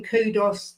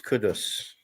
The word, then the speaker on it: Kudus: Jim says you don't say Kudos. You say Kudos. Is that right? Kudos. Yeah. Yeah. That's what they they because they they they got the players to pronounce their own names and it was Kudus. Kudus.